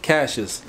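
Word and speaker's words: Cacia's: and this is the original location and it's pronounced Cash's not see is how you said in the car you can see it no luckily I heard her on the phone she's like Cash's I'm like oh that's how you say it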